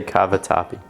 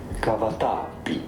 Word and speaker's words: cavatappi: How do you actually say cavatappi?